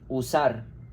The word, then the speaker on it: USAR: y qué es y usar usar eh que significa búsqueda de rescate urbano standard for Urban Search or Rescue es está pronunciado como usar usar al utilizar abreviaturas en